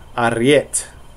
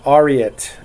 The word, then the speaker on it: Ariet: And the mantra is Typhon Margonis Yislim Ariet, or Ariet, if you cannot roll your R's.